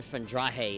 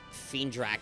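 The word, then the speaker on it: Feendrache: They pronounce it Fendrahe instead of Fiendrak, like how I've been saying it. Fendrahe. They say it with a ch at the end.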